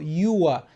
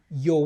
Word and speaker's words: you're: So mtu akikuambia thank you unaweza kusema you welcome ila hili neno la kwanza linatamkwa yo na sio you are sema you're welcome.